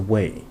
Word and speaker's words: way: It is read as a way, rhymes with English why, a term that remains